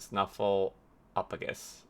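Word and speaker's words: Snuffleupagus: know i know the name i just can't pronounce it snuffle apagus it's not fallopis yeah snuffle a patron i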